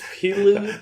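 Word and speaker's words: Pilou: I'm not gonna lie, I can't pronounce his name. It's Pilu.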